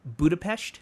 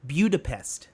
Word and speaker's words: Budapest: He's telling the audience like the route that he's taking to get to Transylvania, and he keeps saying, instead of saying Budapest, he says BEW-dapest.